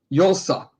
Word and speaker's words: Yulsa: Yulsa. Brian Tracy sent me the proper way to say her name. It's Y-U-L-E-S-U-H, phonetically.